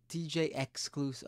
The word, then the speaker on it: DJ XXXclusive: Exclusive, but with three X's. Got it. DJ. Well, they put DJ X3C. Oh, three DJ exclusive.